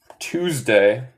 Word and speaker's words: Tuesday: Okay, so we have Tuesday, Thursday, Tuesday, Thursday. Los dos de los S suenan más como abeja. Z. Tuesday.